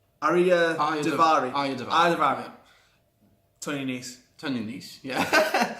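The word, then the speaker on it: Arya Daivari: Arya Davari.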